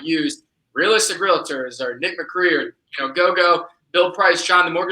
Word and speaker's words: Macri: So if yours is Real Nick Macri, am I pronouncing it right? There you go. See, it's Italian, so you're pretty close. You got it.